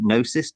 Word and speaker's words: Gnosis: Gnosis.